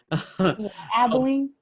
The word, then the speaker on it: Abilene: she is currently a financial aid loan coordinator at mcmurray university located in abilene am i saying that right abilene yes abilene abilene i'm so sorry texas